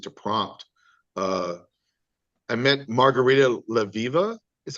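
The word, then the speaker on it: Margarita Levieva: Uh, I met Margarita Leviva is how you say her name.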